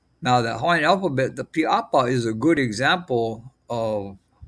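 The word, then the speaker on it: pīʻāpā: an okina that separates the I and the A for apa. And then you have a kahako above the first A and the P, and then a kahako above the second A. So that's pronounced as piapa, piapa, piapa.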